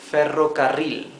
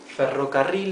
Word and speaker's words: ferrocarril: The word for railway is ferrocarril, right? Ferrocarril. Ferrocarril, if we separate it in four syllables like here, can be a bit easier to pronounce perhaps. Fe, ro, ca, ril. Fe, ro, ca, ril. Ferrocarril, okay?